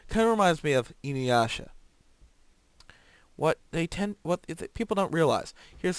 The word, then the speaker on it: Inuyasha: Kind of reminds me of Inuyasha. What people don't realize. Here's a little tidbit of Japanese information. Japanese has no stressed syllables.